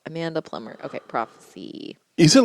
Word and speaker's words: Plummer: see which one Amanda plum in I mean plumber please bleep out when I get her name wrong just bleep it out Amanda Plummer okay prophecy is it